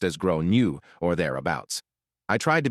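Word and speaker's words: Gráinne: She asked what I meant, and I said, well, in Ireland, they typically pronounce it like Grown-you.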